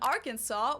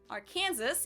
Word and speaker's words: Arkansas: Actually, it should be pronounced in three syllables with the final Silent, the A in each syllable with the Italian sound, and the accent on the first and last syllables.